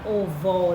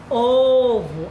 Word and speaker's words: ovo: Você não fala ovó, não. Você fala ovo. A mais forte está no O, certo?